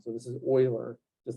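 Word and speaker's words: Euler: same kind of idea this EU has like an o sound so this is Oiler just like roers is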